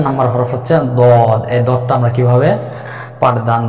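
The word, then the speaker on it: ضاد: যেমন বলবে যে দদ জিহ্বার, অর্থাৎ জিহ্বার গোড়ার কিনারা উপরে মাড়ির দাঁতের গোড়ার সঙ্গে লাগিয়ে 4 আলিফ পরিমাণ টেনে উচ্চারণ করতে হবে মোটা আওয়াজে। দদে দদে দদে, এভাবে দদ হরফের নামের মশক কমপক্ষে 100 বার।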